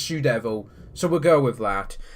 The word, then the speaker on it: TzuDevil: a best out of three the youtuber is sue devil that spelled the Japanese way baby puto me it's pronounced shoe devil so we'll go with that and now as